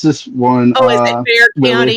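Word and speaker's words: Bexar: one oh is it bear county is it pronounced like bear with the X silent is that what it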